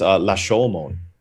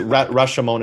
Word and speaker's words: Rashomon: It's La Shomon. It's actually I was gonna that up really badly. But people just say Rashomon is fine. Rashomon is fine, but it's actually Lashomon.